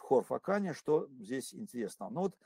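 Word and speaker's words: Хорфаккан: Действительно, те, кто давно не были в Хорфакане, пожалуйста, пишите и произносите хор, а не кх. Кх – это англичане так говорят, а правильно по-арабски хор.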